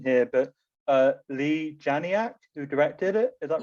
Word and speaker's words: Leigh Janiak: Yeah, because I suppose I'm kind of linking to that as well, and you might have to correct my pronunciation here, but Leigh Janiak, who directed it, is that right?